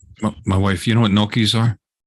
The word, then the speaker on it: gnocchi: Not nookie. Gnocchi. Are you referring to gnocchi? You could say it like that if you want to.